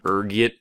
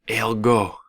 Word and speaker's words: ergot: There's a few different ways you can pronounce it depending on your social standing, ranging from ergot to elgo. Being the disheveled pauper I am, I prefer ergot.